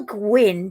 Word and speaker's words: Gwyn: But Gwyn is Welsh for which colour? Gwyn. It's pronounced Gwyn, is it? No, Gwyn. did you say Gwyn? Gwyn. Oh. Go on. It's Gwyn. Yes.